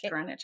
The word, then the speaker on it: Greenwich: say that is it grenwich or I think it's Greenwich I think the W is silent okay Greenwich Hospital in